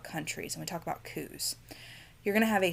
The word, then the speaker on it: coup: So C-O-U-P is pronounced coup.